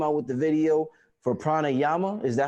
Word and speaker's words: Pranayama: year you came out with the video for pranayama is that how you say it yeah pranayama actually drama almost a year ago it was